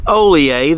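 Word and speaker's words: Hollier: So this is LSU Oleae. The H is silent there, and much like many of the other LSU varieties, this is a very fast growing variety.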